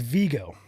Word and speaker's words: Vigo: So it's Vigo.